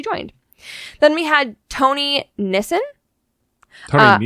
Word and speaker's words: Nissen: Then we had Tony Nissen. Tony Nissan. No, Nissen.